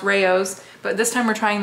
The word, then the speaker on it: Rao's: also got the Rao's we found out from you it's pronounced Rao's but this time we're